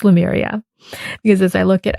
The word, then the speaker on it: Lemuria: I feel this is Lemuria. and I barely even knew how to say it. In fact, I don't even know if I'm saying it correctly. Lemuria. Well, I think it's Lemuria, because as I look